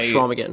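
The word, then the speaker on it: Chequamegon: Yeah, Right, it's got a funky spelling to it. There's like a Q in there and some letters that don't get pronounced. Yeah, Schwamigan.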